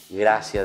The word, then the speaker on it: gratia: Es decir, la palabra gratia se escribe en latín, se pronuncia gracia y significa gratis, queridos niños.